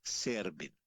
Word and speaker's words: Serbin: Es Servin. Te lo pronuncio Excelente.